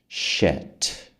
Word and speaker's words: shit: Shat shit. Sheet. Shit. Percebe a diferença?